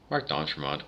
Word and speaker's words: Marc d'Entremont: Marc d'Entremont, that's how we say it. We never said it French.